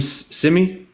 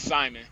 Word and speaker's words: Simon: on so um wait is your name simy it's Simon simy S sim sim